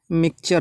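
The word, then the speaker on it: mixture: ठीक है, एक्स यहाँ पे क्या कर रहा है, एक्स से पहले आई है तो का प्रोनाउंस करा रहा है, मिक्सचर पढ़ा जाएगा। ठीक है, नॉट मिक्सचर, मिक्सचर नहीं पढ़ना है, मिक्सचर पढ़ना है।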